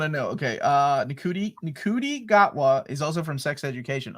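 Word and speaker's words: Ncuti Gatwa: the trailer how do you say his name nudi no okay I I really want to know okay uh niki niki gatwa is also from sex education oh that show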